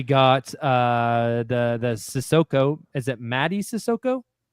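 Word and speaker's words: Mady Sissoko: Is it Maddie Sissoko? How do you pronounce Madi. that, Nick? What? Madi. Madi Sissoko.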